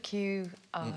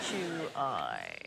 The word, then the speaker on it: Qi: Different pronunciation of QI. Key, it's in China. It is in China, you're absolutely right. It's the state of Qi.